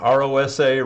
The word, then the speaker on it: Rosa: it i don't know rosa is my name rosa rosa and that's how we i've always pronounced it uh that was the